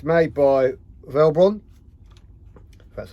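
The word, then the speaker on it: Velbon: of ebay or amazon now it's made by velbron that's how you pronounce it because it's a really nice steady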